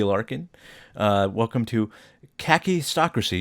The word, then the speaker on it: kakistocracy: Larin uh welcome to khaki stracy you were right the first time when you said that that's how you pronounce it um how are you